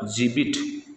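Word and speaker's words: gibbet: उसी प्रकार जीबिट, इसको जीबिट बोलेंगे, यहाँ पर घे का उच्चारण दे रहा है, यहाँ पर जे का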